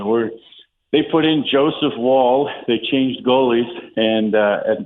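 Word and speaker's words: Woll: It's Wall, W-O-L-L, but hey. It's how you say it, not how you spell it.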